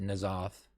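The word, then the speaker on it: N'Zoth: They pronounce it Nazoth after this.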